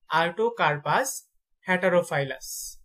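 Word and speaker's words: Artocarpus heterophyllus: আর্টোকারপাস হেটারোফাইলাস।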